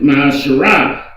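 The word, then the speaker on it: ma'aser: You can find this in Numbers 18:21, Malachi 3:8-10, means 10th in the Hebrew, and it's pronounced Ma'asherah, 10% of every penny of every increase the Lord gives you.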